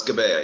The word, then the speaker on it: Gebeya: Is it Gebeya? Yes, that's Gebeya, yes.